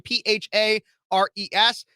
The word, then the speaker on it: Phares: You could also see me on YouTube at Speechless or Speechless with Phares, last name Phares. I know it sounds like Ferris Bueller's Day Off, but it's spelled Phares.